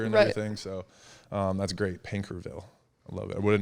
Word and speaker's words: Paincourtville: It's called Pankerville, Louisiana. I love it. It's not how you think it's spelled, so it's really funny.